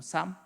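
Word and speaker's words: Psalm: 쌈. 시편을 쌈이라고 하는데 앞에 있는 피자가 발음이 되지 않습니다. 우리가 풋쌈이라고 얘기하지 않고 쌈이라고 하는 이유가 앞에 피가 묵음이 되기 때문이죠.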